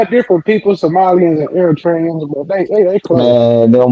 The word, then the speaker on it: Eritrea: Eritrea. How you say It's, that it's, shit? it's Eritrea.